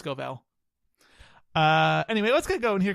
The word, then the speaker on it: Scovell: I pronounced it Scoville before, but it's Scovell.